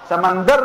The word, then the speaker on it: سمندر: جو ته سمندر وایو دا تلفظ مونږ غلط کړو دا سمندر دی دا اوبه چې پکې کنه پرې کراچۍ سره دی دا څه شی دی سمندر نه دی سمندر دی سمندر د دال په زور سره دا یو چینجی